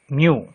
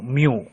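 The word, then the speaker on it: μ: it is denoted by a Greek letter pronounced do mu m e w mu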